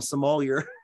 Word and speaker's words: Sommelier: Yeah, Sommelier was doing that, weren't they? Is that how you say it? I always called them sommelier. Yeah, it's sommelier.